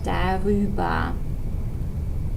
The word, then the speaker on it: darüber: You're going to add an extra R, so they become darüber. There's your R.